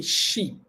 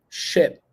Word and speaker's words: ship: okay repeat sheep sheep you're not going to say sheep sheep because of the letter I over there so you're not saying sheep but the pronunciation correctly would be ship ship so the ship